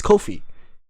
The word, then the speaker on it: Kofi: Hey, my name is not Q, it's Kofi. It's a 4-letter word. It's a 4-letter word, please. Just a 4-letter word, a 2-syllable name. Don't make it one.